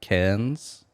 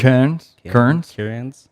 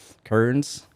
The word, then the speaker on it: Cairns: No, has been DJing at a bar called Elixir Music Bar, which is in Cairns, Queensland. Cairns. I think that's how you say it. Cairns. Not Cairns. Cairns. It's something like that.